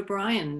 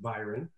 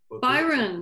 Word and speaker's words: Byron: and we'll go to brian next yes it's actually pronounced byron byron sorry no worries like lord byron a very noble name i'm named after uh